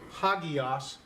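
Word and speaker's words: ἅγιος: how we pronounce it it puts an H in front of it ok so it's pronounced ha Geass what does it mean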